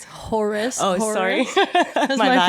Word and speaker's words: Horus: Back to the horses. Nice. No. Oh, it's not horse. It's Horace.